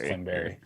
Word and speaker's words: Klingberg: It's pronounced Klingberry.